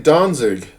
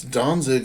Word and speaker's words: Danzig: these hold on alrighty donzig now donzig it turns out is really good dance uh and it's Danzig in German it's a port city